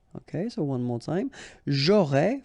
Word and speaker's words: j'aurais: J'aurais, final S not pronounced.